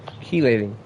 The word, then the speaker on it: chelating: Keelating.